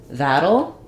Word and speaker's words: that'll: So that'll, similar to how we would say middle or little.